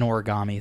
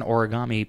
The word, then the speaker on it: origami: crane is uh an origami thing right yeah so origami actually is like two words put together so it's Ori meaning folding and Kami meaning paper but Kami changes to gami due to rendaku which is some kind